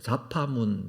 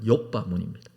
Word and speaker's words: 욥바문: 자파문, 자바문, 뭐 여러 가지 발음으로 됩니다만 욥바문입니다. 예루살렘 성벽이 있죠.